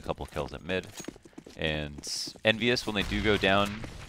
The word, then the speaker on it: EnVyUs: Envyus always rhymes with marvelous, but will this round be marvelous for them?